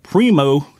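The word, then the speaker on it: Primeaux: But that is Primo Targets, and that's spelled P-R-I-M-E-A-U-X.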